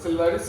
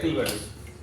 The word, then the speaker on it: Cilvaris: सिल्वारिस beauty device, इसको बोलते हैं सिल्वारिस या किल्वारिस। अलग अलग यूरोपियन प्रोनाउंसिएशन के हिसाब से या अमेरिकन प्रोनाउंसिएशन के हिसाब से आप दोनों ही बोल सकते हैं, दोनों सही है। सिल्वारिस भी सही है, किल्वारिस भी सही है, तो कंफ्यूज नहीं